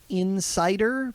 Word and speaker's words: inCider: An Apple magazine called Insider, but it's spelled INCIDER, like insider, like insider, decided that they would publish the code for a game Romero made called Scout Search.